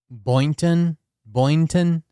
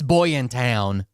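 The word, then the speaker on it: Boynton: road that you Boon Boon? Is that how you say it? I pronounced everything in Florida wrong and people are like, "Actually, it's Boy in town."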